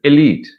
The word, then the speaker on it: elite: me verb august elite but we find so many boats allied it is not correct elite elite entrepreneur worry worry